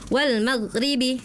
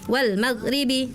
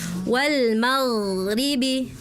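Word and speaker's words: وَالْمَغْرِبِ: Tadi kakak bacanya wal magrib. Wal magribi. Ada aliran suaranya dulu ya. Wal magribi. Wal magribi gitu ya. Heeh. Huruf g bersukun ya. Heeh. Huruf g sukun.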